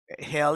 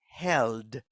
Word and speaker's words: held: no no no no hell is something different this is held with a d at the end listen held look look